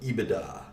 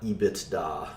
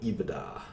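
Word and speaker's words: EBITDA: call this Eva da how you pronounce it eBay da not EEB it's da but eBay da its earnings before interest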